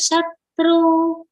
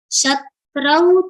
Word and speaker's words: शत्रौ: sh समशत्रौ च शत्रौ the vowel sound of au has come here on tra do not pronounce as shatru shatrau cha mitre cha tatha